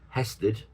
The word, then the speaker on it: hesed: God is compassionate, and the word kindness there is a Hebrew word, and it's kind of pronounced hesed, and it means his loving kindness, and it appears lots of times throughout the Bible.